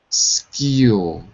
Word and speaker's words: minuscule: However, minuscule. Wait. Min. Min. Because it looks like a U, but we don't say it like a U. We say min. Minuscule.